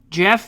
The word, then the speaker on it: Geoff: Composers Jeff Barrow, but it's spelled the obnoxious way.